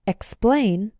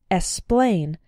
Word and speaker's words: explain: words X is pronounced be careful in words like explain to include the K sound sometimes students pronounce it like explain but that's not correct